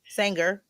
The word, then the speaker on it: Sanger: Sanger, like the sewing machine, y'all. Like she can sing. She a singer. For the women that's watching, like the sewing machine, Sanger. It's spelled the same way.